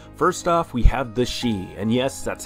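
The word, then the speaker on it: Sidhe: who knew how to pronounce this it is pronounced she they're comprised of the realms of spring and summer and the she are led by the high summer queen titania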